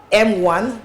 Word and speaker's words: MWAN: women's Association of Nigeria M1 Delta State chapter welcome Dr good morning Dr thank you thank you very much okay very quickly that word it pronounced as M1 M1 M1 M1 okay